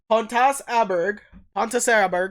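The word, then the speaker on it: Pontus Åberg: In 2017, rookie forward Pontus Aberg is that how you say it? Pontus Aberger? Pontus Aberg. Pontus Asperger's. Yeah, that's it.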